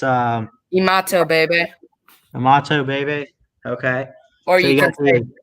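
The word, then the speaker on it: Imatorbhebhe: how how do you say it it's um imato baby imato baby okay or you or you can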